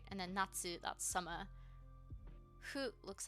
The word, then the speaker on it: 夏: Natsu. 夏 Nats. You didn't pronounce the U. Do you not need to? I know you don't need to pronounce the U on the end of this.